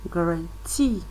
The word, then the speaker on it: guarantee: the second syllable and guarantee grant see the force of the stress is on the third uh syllable there words